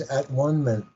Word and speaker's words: atonement: yeah necessary illusion and another way of pronouncing atonement is at onean that's right correct Amando